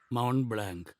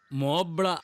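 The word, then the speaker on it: Mont Blanc: കാണണം സാറിന ഒരു സമ്മാനം മൗണ്ട് ബ്ലാങ്ക് ആൽഫസിലെ ഹയ്യസ്റ്റ് മൗണ്ടിന്റെ പേരാ ഇവന് വെളുത്ത ശിഖരം ആന്നോ ഇരിക്ക് വേണ്ട സാറെ ഇരിക്കടാ വേണ്ട സാറെ സിറ്റ് ഡൗൺ ഓ പോവാ മോബ്ല എന്നാണ് ഇതിന്റെ റെ യഥാർത്ഥ ഉച്ചാരണം.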